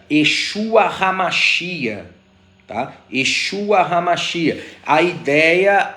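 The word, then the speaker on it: ישוע המשיח: É muito comum a gente ouvir uma expressão conjugada que se pronuncia Yeshua Hamashia.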